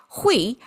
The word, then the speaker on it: 卉: So the first one is plant and pronounced as hui, made of three this sun-facing, upward-reaching grass symbol.